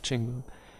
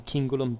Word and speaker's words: cingulum: particularly elaborated uh chinula chinula is the plural of chingum um I'm using by the way for today's video the ecclesiastical pronunciation because we're talking late Roman times so otherwise would have been kingulam but it's just you know here a convention that I use on the